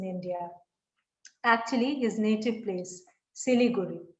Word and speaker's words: Siliguri: actually his native place siliguri right chili guru as the bengali is pronounced excuse me is a